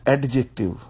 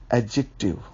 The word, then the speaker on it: adjective: pronunciation of the word this is नॉट एडजेक्टिव be careful about the press about the pronunciation D is silent एडजेक्टिव so students first of